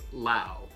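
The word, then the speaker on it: Lowe: brace is brandon lau not to be confused with low l-o-w-e but pronounce lao he is expected to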